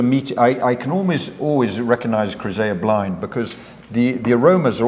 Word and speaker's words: Chryseia: How you pronounce it? Chryseia? Chryseia, perfect.